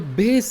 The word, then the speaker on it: bass: word pair for you this word pair is spelled differently b a double s b a s e these are the two spellings but the pronunciation is the same base and in case